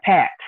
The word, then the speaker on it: Packt: Yeah, Pact. They're pronounced Pact, PACKT, but pronounced Pact.